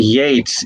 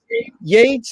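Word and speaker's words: Yeats: it's but that definitely yates is is uh even though it's ea it's it's pronounced with an a okay yates is pronounced with the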